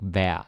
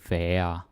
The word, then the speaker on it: være: Now, være might be pronounced more as, how to explain this? Like være, kind of like, hvor ville hans mor være stolt? Like we don't say være, like a very slow one.